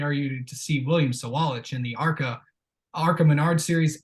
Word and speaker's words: Sawalich: I've been told it is William Sawalich. That is how you pronounce his name.